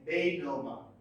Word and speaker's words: denouement: Its pronunciation is denouement.